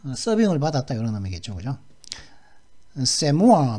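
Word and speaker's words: c'est moi: 세모아 발음은 세모아입니다.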